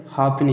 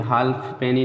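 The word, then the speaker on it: halfpenny: यफ का कोई शब्द नहीं मिलेगा साइलेंट वाला, एक शब्द है दोस्तों ये, ठीक है, हाफनी है, ठीक है, हाफनी, इसमें यफ नहीं बोलेंगे, हाल्फ पेनी नहीं बोलेंगे, हाफनी माने होता है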